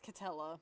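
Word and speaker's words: Katela: It's Catella. I just got to say I think Catella because it because K A T E L A that would that implies TA. Yes. Yes. That's that's how it's pronounced in the show.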